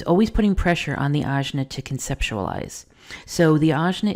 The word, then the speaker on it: Ajna: The Azna is spelled Ajna and this is the green triangle pointing down on your chart if you have it colored in.